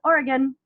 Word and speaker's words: Oregon: Oregon, it's a nasal Western New York thing, but it's across the country, I think we tend to pronounce it incorrectly. So if an Oregonian has not corrected you, I was very nice in letting you know. It's Oregon, Oregon. I've only been there once and I loved it.